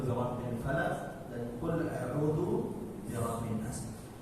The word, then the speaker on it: فلق: Qul a'udzu birabbil falaq. Qul a'udzu birabbil falaq. Dan qalqalanya harus muncul. Kalau tidak muncul, maka ini bacanya tidak sempurna. Harus falaq. Tidak boleh falaq. Hanya bisa falaq.